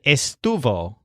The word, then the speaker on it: estuvo: or it was again both words have Stu as the stressed syllable but Joel sounds more like Stu face and the lizard sounds more like Stu foot these words can be